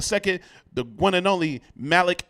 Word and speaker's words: Malik: Malik. But it's Malik X, the one and only. It's spelled Malik.